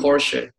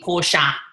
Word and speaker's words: Porsche: Yeah, we say in German Porsche. It's like an A on the end if you're an Aussie, Porsche.